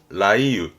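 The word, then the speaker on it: 雷雨: 가지고 많이 쓰는 건 레우 발음은 라이유 라이유 천둥번개를 동반한 뒤를 말할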